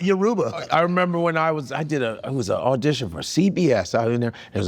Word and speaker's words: Yoruba: He's like, okay, Igbo, my boy is Yoruba.